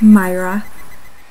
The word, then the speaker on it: Moira: And Moira can also be said two different ways. Where I come from, we would pronounce Moira like Myra.